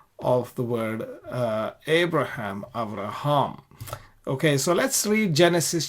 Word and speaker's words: אַבְרָהָם: This is consistently the case in the Tiberian Masoretic Hebrew texts, and it is pronounced as Avraham in Hebrew. Avraham.